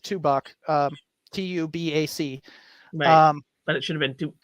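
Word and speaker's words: Tubac: but uh you know we don't say tuba which you know in seven realized that Spanish from the 17th century is different from Spanish today and there were weird like extra letters the same way French does um so like tubak everybody calls it two buck um t-u-b-a-c um but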